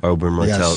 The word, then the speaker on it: Oberyn Martell: Oberyn Martell? Oberyn Martell.